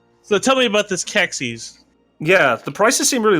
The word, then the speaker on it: Qexi: But last I knew, a Q with an E is just going to be a K.